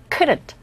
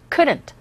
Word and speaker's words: couldn't: 제가 발음할 때 지금 couldn't에서 t 사운드 들리세요? 잘 안 들려요. couldn't, couldn't. 트 소리는 내지만 거의 우리 귀에는 들리지 않는다는 사실 캐치하시면서 따라하세요.